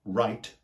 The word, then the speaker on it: right: The words that I can think of are, for example, right, R-I-G-H-T, which is pronounced exactly the same as the word write, W-R-I-T-E.